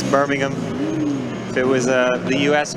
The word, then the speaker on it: Birmingham: I don't really think you should pronounce the H, right? It's Birmingham. Yeah, it's Birmingham. If it was the US, Birmingham, Alabama, but Birmingham, England.